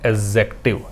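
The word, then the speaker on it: adjective: पढ़ने का तरीका है एडजेक्टिव, एडजेक्टिव नहीं पढ़ना है, एडजेक्टिव पढ़ना है। क्योंकि ए और जे के बीच में जब डी लगाते हैं तो डी का उच्चारण हमें नहीं करना होता।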